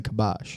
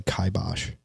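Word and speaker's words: kibosh: There is a very large population of people that say kaibos. Really? I've never heard it. Yeah. Not once. And the supposedly the pronunciation can go either way. I'm like, how how can a word be pronounced in two different ways?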